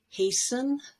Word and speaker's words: hasten: S-T-E-N toward the end of a word, like listen, or fasten your seatbelt, hasten, and christen.